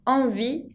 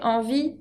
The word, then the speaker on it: envie: Avoir envie, con una E que no se pronuncia, avoir envie de.